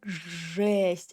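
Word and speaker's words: жест: The same goes to ye. If you will put ye after zh, sh, ch, and sh, it will sound like a. For example, zhest. Yeah, it sounds like zhest, a, but it's just ye.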